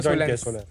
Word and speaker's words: Solnce: Ma'am solar और alliance को join किया तो सोलेंस।